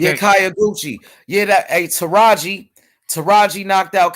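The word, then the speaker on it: Kyoguchi: Hayaguchi. Yeah, Hayaguchi, right? That's how you say his name? Kayaguchi with the K. Yeah, Kayaguchi.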